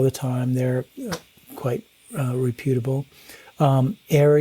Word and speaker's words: AIARE: AIRE is another organization that teaches avalanche classes all over the country. It's spelled AIARE.